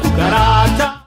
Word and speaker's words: cucaracha: So it's pronounced like a K when it's followed by an A, O, or U, like in casa, coche, and cucaracha.